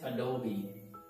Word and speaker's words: Adobe: all already a dog breeder but the right pronunciation is Adobe Oh Dobie so it's better it's treasure would do okay help Thomas express apology Adobe Adobe Reader Adobe Reader next one is Disney Disney